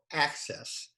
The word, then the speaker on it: Axes: is the ceo of access that company if you see it in writing is a a-x-e-s but you pronounce it a-c-c-e-s-s earl welcome again good